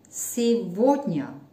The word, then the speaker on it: сегодня: Now look at it, please, and be careful because this word is completely different when you write it and when you pronounce it. Посмотрите на это слово, потому что когда его видите, оно написано, оно совсем по-другому, как его слышите.